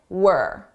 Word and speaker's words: we're: This is we are as a contraction, were. Now, notice how unstressed my pronunciation is. It sounds like were, not we're, were. This is how native speakers say it at a natural pace.